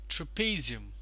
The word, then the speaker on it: trapezium: addition add addition this one over here is pronounces trapezium true not Pythium but peasy 'm trapezium trapezium